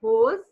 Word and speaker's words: rose: Pink as in hose. Just as we say rose, same as hose.